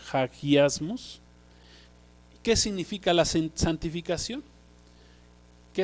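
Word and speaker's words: ἁγιασμός: principio viene del griego hagiasmos, bueno, así se pronuncia, con J, hagiasmos. ¿Qué significa la santificación? ¿Qué es el fruto al que debemos de llegar después de ser libertados del pecado? Santificación, hagiasmos, significa ser separados, ser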